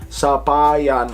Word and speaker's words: sapayan: You don't really do the a, you do sapayan, sapayan, like super saiyan, super saiyan.